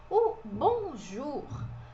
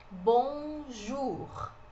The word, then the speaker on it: bonjour: mim treinar a pronúncia Bonjour a gente fala o r ó e aqui esse oo tem o som de u Ele é um som de u igual o do português Bonjour Bonjour e o bom